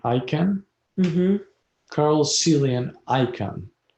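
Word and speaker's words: Icahn: yes yes all right next on the list card you pronounce his last name i can carl cilian icon his last name spells i-c-a-h-n yes he incarnated at the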